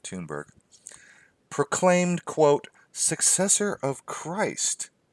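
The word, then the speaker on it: Thunberg: greta --the tune burke i keep want to say thunder but everybody pronounces it tune burke proclaimed quote successor of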